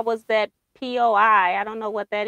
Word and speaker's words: poi: Oh, poi, pronounced like boy. But with the P, imagine the taste of wall paste.